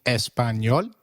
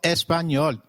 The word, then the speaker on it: español: It is pronounced as ni, like in canyon. So, can you try saying Español? It is called Español.